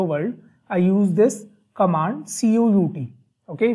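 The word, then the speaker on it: cout: I use this command c-o-u-t okay we pronounce it as C out okay it is not count it is not c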